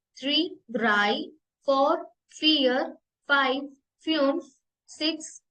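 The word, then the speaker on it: drei: बोलते हैं नल नल नल वन को हम प्रोनाउंस करेंगे ions ions ions same to स्वाय स्वाय three dry दाई dry four fear fear five फ्यूस फ्यूस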